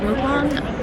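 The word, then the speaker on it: 먹방: It's mukbang is the correct pronunciation, but mukbang is the American version.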